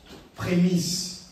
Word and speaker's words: prémices: Prémisse. Les Il faut bien le prononcer prémisse sinon pourquoi il y a la primus.